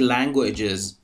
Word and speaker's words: languages: به تلفظ language خوب دقت کنید. وقتی هم که اس بهش اضافه میشه و جمع بسته میشه صدای از میگیره.